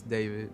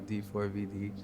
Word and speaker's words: D4VD: Pronounce David not D4VD.